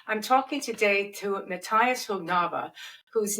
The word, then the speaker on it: Högnabba: I'm talking today to Matias Hognaba whose name I've just learned to say and